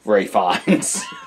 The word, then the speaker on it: Fiennes: Well, I'm going to pronounce it correctly because I'm not a jerk. Your name is Ralph Fiennes, Ray Fiennes.